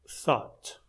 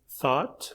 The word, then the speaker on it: thought: simple fashion by saying thought. Even though you write it with an O U G, don't let the extra letters trick you in terms of pronunciation.